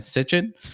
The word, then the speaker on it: Sitchin: old sumerian text that was translated by zachariah sitchin right and that's supposed is sichuan is that how you say it yeah you